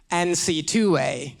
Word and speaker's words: NCAA: NCAA is for the lazy folks. NC2A.